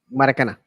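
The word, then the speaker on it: Maracanã: Their stadium, which is called the Maracana, I believe is how it's pronounced. Maracana.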